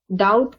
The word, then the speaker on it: doubt: Doubt has a letter B in it. D O U u BT but we don't pronounce the B out loud so it is doubt